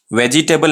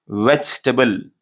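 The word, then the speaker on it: vegetable: वेजिटेबल नहीं pronounce करना है इसको, ये रॉन्ग प्रोनाउंसिएशन है। एक्चुअल प्रोनाउंसिएशन कैसा करना है? वेजिटेबल, वेजिटेबल, ठीक है, वेजिटेबल सही प्रोनाउंसिएशन है।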